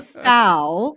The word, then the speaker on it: Fow: jewel like a gem foul like wow okay i i'm just